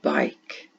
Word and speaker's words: bike: I will ride my bike. Now on this one, remember it has a silent E on the end.